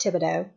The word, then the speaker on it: Thibodeau: for mispronouncing his name I was putting on our in there and it's thi be DEA you or there's an O in there thi be o de au I believe is how it's about but pronounced Thibodeau so I apologize to